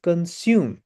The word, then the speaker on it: consume: This word is not consume, it is consume.